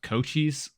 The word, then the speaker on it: Cochise: his name is pronounced like COH dash CHEEZ.